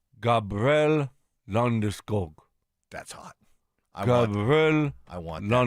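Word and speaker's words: Landeskog: and the PA announcer how he wants his name pronounced in Swedish. Okay. Yeah. Check this out. Tell me this isn't hot. Gabriel Landoo. Gabrielle Landesk. Gabrielle Londog.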